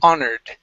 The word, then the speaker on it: honored: So the H is not pronounced in this word. Okay, instead of honored, it's honored. Honored.